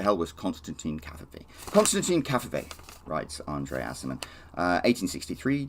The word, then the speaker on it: Cavafy: alexandrian greek poet called constantine cafe i think i pronounced that last name right it's not coffee like that stupid word that donald trump once uh tweeted out constantine cafe i didn't really know